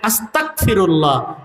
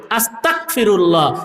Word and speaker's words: আস্তাগফিরুল্লাহ: মনে রাখতে হবে শব্দটা হল গ দিয়া। বাংলা উচ্চারণ কি দিয়া? গ দিয়া। গ। আস্তাগফিরুল্লাহ। আস্তাগফিরুল্লাহ। এখন কেউ যদি ক উচ্চারণ করে আস্তাগফিরুল্লাহ এর অর্থ হবে আল্লাহ আপনারে অস্বীকার করতে চাই নাউজুবিল্লাহ বলেন এজন ইমাম